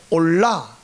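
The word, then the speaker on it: עולה: 뒤에 뭐가 뭐냐면 올라 올라 코르반 올라이 번제인데 모든 것이 하나님께 다 올라가잖아요. 우리나라 말이 올라간다 하는 거 올라가고이 올라 발음이 똑같아요.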